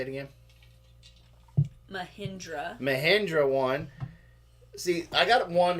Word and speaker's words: Mahindra: Mulholland? How do you say the stupid tractor's name? Mahindra.